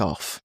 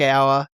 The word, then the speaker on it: Ough: It's spelt Jack off, basically. but it's Jack Hour, confirmed by a random TikTok I found where Jesse Hogan answers a question.